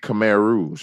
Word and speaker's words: Khmer Rouge: Tell me a little bit about that and pronounce Khmer Rouge. Is that Khmer Rouge? Khmer Rouge.